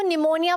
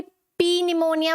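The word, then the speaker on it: pneumonia: आपने सुना है कोई पी निमोनिया बोलता हुआ पी निमोनिया नहीं ना तो जो एन से पहले का यह जो मिट्टी है वह भी हमेशा साइलेंट होगा हमेशा नहीं मतलब मोस्ट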